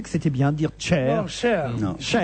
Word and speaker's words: Cher: C-H-E-R. Donc voilà. C-H-E-R, oui. Moi je disais bêtement cher, mais bon voilà. Mais c'est pas un mot anglais, cher. C'est pour ça qu'on dit, on prononce à la française.